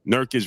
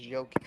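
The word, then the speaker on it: Jokić: dude the Denver Nuggets center I can never pronounce his name nurkic you gonna get him uh I think that's his name nerkish versus Joel ID that's his name right Sean it's yic joic you're gonna get yic Sean versus embiid you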